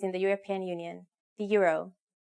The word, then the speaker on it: euro: Finland uses the same currency as most countries in the European Union, the euro. Please be careful with the pronunciation though. It's a bit different from English. In Finnish we say euro.